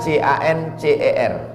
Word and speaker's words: cancer: Tulisannya C-A-N-C-E-R. Orang barat membacanya cancer. Orang kita susah menyebut cancer.